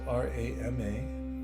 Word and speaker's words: Rama: The 2 syllables R-A-M-A, Rama, were taught tens of thousands of years